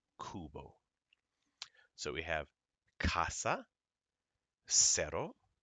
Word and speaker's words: cero: Ka as in Casa CE goes SE as in Cerro c i goes c as in Circo goes CO as in Coco CU goes KU as in Kubo so we have casa cero Circo and again please